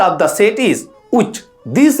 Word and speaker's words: ᱪ: The second letter of the set is uch. This letter is pronounced uch in Shantali.